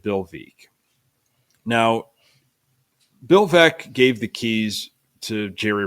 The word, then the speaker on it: Veeck: There's a book, that helps with the pronunciation. Veeck is in rec.